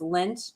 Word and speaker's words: Lindt: do you pronounce that it's like lint balls in the yeah did you take it out of the dryer yeah so it is l-i-n-d-t